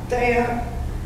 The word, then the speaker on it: Thyatira: How do you pronounce that? Thyatira.